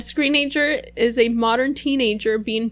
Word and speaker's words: Screenager: All right, now one of the more mellower songs, Screenager. Is that how you say it? I think so. Screenager. That's how I say it. Teenager, Screenager. It was produced by John Leckie.